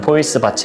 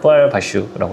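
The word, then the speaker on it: poil de vache: 근데 저희는 그냥 보통 그냥 포이스 밭 이렇게 부르기도 하는데 불어 발음대로 하면 뽀알 바슈라고 합니다.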